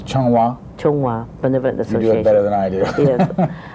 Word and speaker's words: Zhonghua: How do you spell that? C-H-O-N-G. C-H-O-N-G. W-A. W-A. Benevolent. Okay, it's Zhonghua.